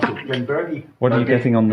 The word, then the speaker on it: Glenburgie: GlenBurgie. What are you getting on the nose? GlenBurgie. What are you getting? mostly bourbon. Very straight bourbon. No, it's not silent R, you pronounce the R.